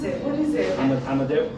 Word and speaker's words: Amadeu: I can't pronounce it. What is it? AMADEU? AMADEU.